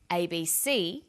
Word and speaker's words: ABC: Notice that each letter in the abbreviation is pronounced separately, but the last letter is pronounced more strongly because it carries the primary stress. So we say USA, ASAP, ABC, and TV.